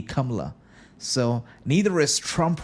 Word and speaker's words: Kamala: the pronunciation would actually the correct pronunciation in India would actually be kamla so neither is Trump